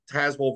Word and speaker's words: Tazewell: and today we're joined by Beth takish from tazwell Virginia did I pronounce that properly Beth you did yeah package